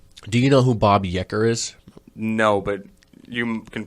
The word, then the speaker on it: Uecker: It's Uecker.